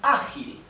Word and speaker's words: ágil: However, it is ágil. The accent is in the first syllable.